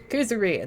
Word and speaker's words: Kuzuryu: Kuzuryu, that's how you say it then.